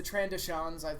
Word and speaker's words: Trandoshans: pillow and they explained that Bosque Species the Trandoshans that's how it's pronounced they hunt walkies and their whole society